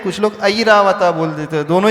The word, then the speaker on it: ऐरावत: हीरा बता नहीं है ऐरावत ऐरावत आई के ऊपर मात्रा है और यहां कुछ लोग एरा वत बोल देते हैं कुछ लोग ऐरावत बोल देते दोनों ही